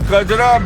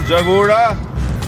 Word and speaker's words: Kajra: Tilopa lived in Kajra, mispronounced by Tibetans as Jagoda.